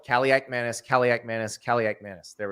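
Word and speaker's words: Kaliakmanis: say caliak Manis but it is pronounced exactly the way it is spelled caliac Manus caliak Manus caliac Manus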